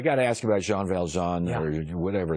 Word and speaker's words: Jean Valjean: I got to ask you about Jean Valjean or whatever. Everyone has different pronunciations for all. Yeah, but that's right, Jean Valjean.